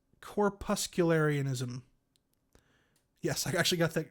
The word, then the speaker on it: corpuscularianism: gonna have to look at this word and pronounce it correctly it's corpuscularianism yes i actually got that right corpuscularianism um corpuscles which is a sort of vaguely